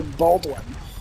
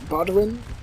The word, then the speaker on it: Baldwin: I keep wanting to try to say Baldwin, but it's not Baldwin. It's probably more like Budwin.